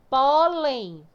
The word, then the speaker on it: pólen: Pólen tem acento? Tem. Então, quando eu divido, a sílaba mais forte vai ser a que tem acento. Então, vai ser essa. Ela é a última ou a penúltima? A penúltima. Então, ela é paroxítona.